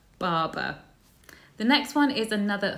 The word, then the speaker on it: Barbour: So it's not Barbour, it's Barber. Barber.